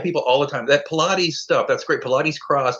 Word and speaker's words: Pilate: It's spelled like Pilates, but it's not. It's Pilate, like the Roman governor who unfortunately washed his hands of Jesus.